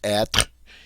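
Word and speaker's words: être: is the verb at notice we pronounce that at it is one syllable word all right it ends with the r sound we don't say we say at and at means come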